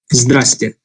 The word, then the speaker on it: здравствуйте: Now this here is a monstrosity of a word, so we tend to just pronounce it здрасте.